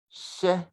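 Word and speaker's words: hyɛ: We do pronounce HY as sh.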